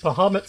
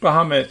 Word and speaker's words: Bahamut: Bahamut saw us kill 2 innocent owlbears and has forsaken us.